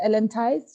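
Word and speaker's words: Ellen Tise: her name again you you said cheese that's what I was pronouncing it before I did not know his ties so it's Ellen ties she is the executive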